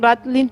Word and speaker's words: ratlines: Se pronuncian Ratlin porque hacen referencia a las sogas que estaban